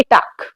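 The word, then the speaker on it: talk: टाक, इसको टालक कह सकते हैं। हाँ, नहीं, एल आपका साइलेंट है, इसको हम कहेंगे टाक।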